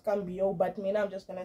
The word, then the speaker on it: Mbo: be pronouncing it wrong cuz he did come out and correct everybody that it's ambo but me I'm just